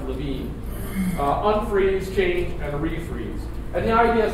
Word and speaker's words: Lewin: And it comes from Kurt, it's Red Lewin, but it's actually pronounced Levine.